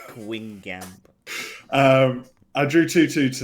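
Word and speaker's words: Guingamp: So I had I had EA Gwin Gamp and Rams left to play. I drew 22 to pronunciation spot on by the way. Yeah, Gwin Gamp. Quing Gamp.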